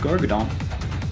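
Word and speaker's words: Greater Gargadon: greater gourd on garganon gargadon it's pronounced gargadon let me get that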